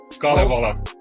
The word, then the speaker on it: Kalevala: But the Halls of, how is that pronounced? Kalevala.